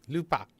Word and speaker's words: Lubadh: to be just a learning session for the lubat or I guess they just call it the Lupa I actually looked it up pure Gaelic how would you pronounce this they're like Lupa like I see what you did there clever